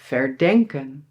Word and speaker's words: verdenken: And here the emphasis is also on the verb: "beDENKEN", "herDENKEN", "verDENKEN".